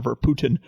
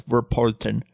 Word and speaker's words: Verpoorten: I called him John Verpoorten, but there is an R in there, so it's Verpoorten.